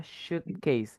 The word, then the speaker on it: suitcase: Next, ada yang namanya suitcase. Ingat, walaupun tulisannya sweet ya, tapi bacanya shoot. Suitcase.